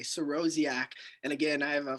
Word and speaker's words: Sorosiak: s o r o s i a k siroziak and again i have a facebook i have